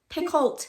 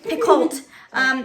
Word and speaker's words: Picoult: Picoult. Yeah. Like a pickle. Okay. Picoult.